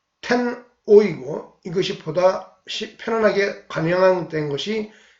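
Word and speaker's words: 天皇: 이 하늘 천자는 음으로 읽고 황은 뜻으로 읽은 것이 텐오이고 이것이 보다 편안하게 관형된 것이 텐노가 되었다.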